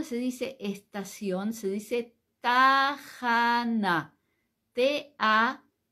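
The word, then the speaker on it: תחנה: la estación Cómo se dice estación se dice tajana te a j a n a J a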